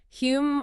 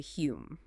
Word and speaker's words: Hume: David Hume. He later changed the spelling to Hume. Right, because the original Scottish pronunciation, Hume, was constantly being mispronounced by the English.